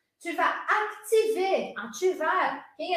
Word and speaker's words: vas: Aparece o S aqui, ó, ele não é pronunciado, a gente vai ver isso na aula de amanhã. Tu vas ativar.